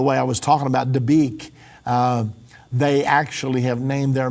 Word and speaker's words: Dabiq: and it is hard to find, but because it's spelled a little funny with B's and Q's and... Yeah, it's actually Dabiq.